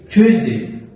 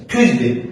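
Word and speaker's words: Tuesday: এ বি D Monday এি টসডে ওয়েনসডে থারসডে Friday দেখেন ভাইয়া কেন জানতে হবে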